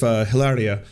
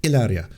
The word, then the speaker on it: Hilaria: Now, it would be weird enough if Hilaria, oh sorry, I mispronounced it, Hilaria.